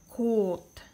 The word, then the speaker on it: 곧: 고 plus ending consonant, 지읒 is actually just when you using the beginning consonant, 지읒 is pronunciation is J. But when you using ending consonant, 지읒 is pronounced D. Okay? At the beginning consonant, it pronounces J, but when you're using ending consonant, 지읒 is D. It pronounced T.